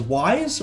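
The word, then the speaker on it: Wwise: The best way to implement this kind of technique is through audio middleware such as Wise, which is spelled W-Wise.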